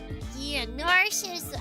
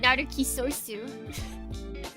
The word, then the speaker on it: Narcissu: But narcissus. Yes. Naru kisosu. Japan? Japan? What do you mean you're pronouncing it Naru kisosu? Sorry guys, I've been pronouncing it wrong this whole time.